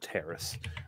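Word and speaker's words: Taris: I've chosen to use a planet called Terrace. Rhymes with Paris, spelled like Paris with a T.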